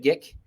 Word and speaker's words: geek: mis à appeler le geek. Ça se prononce geek, G-E-E-K.